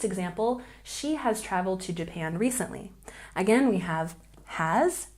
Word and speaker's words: Japan: And we have Japan with a stress on the second syllable. Japan, Japan.